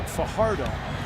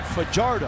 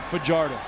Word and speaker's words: Fajardo: Now, many would pronounce his last name Fajardo. He pronounces it Fajardo. And he said he does that because as a youngster, everybody mispronounced it. And he said, I'm just going with Fajardo.